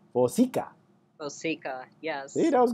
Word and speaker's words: Vosika: And I tried to pronounce her last name, and I did it wrong. I thought there's only two ways. Vosika, Vosika, but it's Vosika.